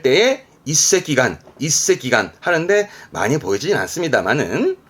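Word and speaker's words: 一隻眼: 발음은 이새끼간 요 느낌이세요.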